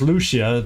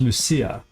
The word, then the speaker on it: Lucia: I always want to say just Lucia, but it's Lucia the way I think she pronounced it.